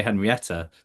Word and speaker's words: Henriette: We keep wanting to say Henrietta because I know I've got a friend who's a Henrietta and I keep gonna call you Henrietta. I use both.